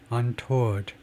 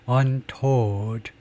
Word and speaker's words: untoward: 그래서 소리부터 한번 들어보면 untoward, 이걸 toward라고 발음하는 사람들이 있는데 두 박자로요. 그게 아니고 toward 한 박자로요. untoward.